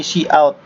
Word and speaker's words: cout: Nah, ini ada cout, bacanya cout ya, cout.